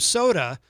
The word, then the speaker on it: Sotah: That is called Sunrise, and that is the brand new track from Soda, which is spelled Sotah.